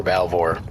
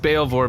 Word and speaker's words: Balvor: was hired by cor bore to abduct Horse hat it's it's pronounced bore but I I mean it makes sense if you're reading it you probably never said it out loud before okay yeah it's